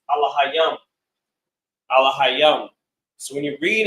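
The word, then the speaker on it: אלהים: We would call them angels in English, but in the Hebrew they are pronounced Alahayam.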